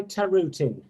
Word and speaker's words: Tarutin: knows how to say your name again guy taruti okay so targa you are a new author